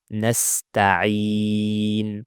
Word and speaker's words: نستعين: Clear ayn with a kasra. Nasta'i. عي. Don't make it ha or hamza. Don't say nasta'in. It's عي. نستعين.